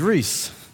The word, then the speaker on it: Rhys: to pronounce my name, it is Rhys, as in Reese Witherspoon. The lack of English vowels confuses some people with my name. But no, think of the Hollywood actress.